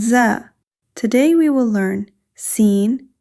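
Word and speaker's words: سين: This is seen. The articulation of seen is the tip of the tongue near the lower front teeth. Air flows smoothly while pronouncing seen. In English, similar to s in sun.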